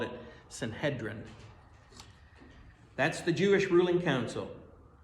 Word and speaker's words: Sanhedrin: Then they had the ruling group called we pronounce it Sanhedrin, but the E is not necessarily long in the Hebrew pronunciation. They called it Sanhedrin.